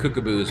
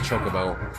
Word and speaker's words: Chocobo: bosch riding on chocobo i used to call them cookaboos when i was younger i know they were pronounced chocobo cookaboo sounds funny in